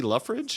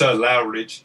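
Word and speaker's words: Loughridge: I'm probably going to mispronounce his last name, but Lee Luffridge, is that how you pronounce it? It's Lowridge. Lowridge. Okay, Lee Lowridge on colors and Clayton Cowles like lettering.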